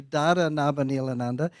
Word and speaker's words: Dada Nabhaniilananda: Ananda but it's simplified to Darin a Vanille Ananda and I because that's still too complicated I